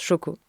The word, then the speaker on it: Xoko: ce qui s'appelle Xoko, ça se prononce Choco, mais ça s'écrit X O.